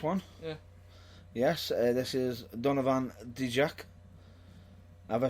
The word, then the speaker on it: Donovan Dijak: Yes, this is Donovan Dijak. Have I pronounced that right?